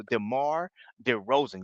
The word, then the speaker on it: DeMar DeRozan: man hey same question man Demar D Ro Demar de Rosen yeah I said it right this time dear